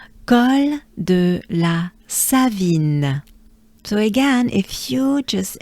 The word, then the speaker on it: Col de la Savine: La Savine, Savine, vine, I. There's the banana smile. I, vine, vine. Savine, la Savine. As a whole, together, ensemble. Col de la Savine.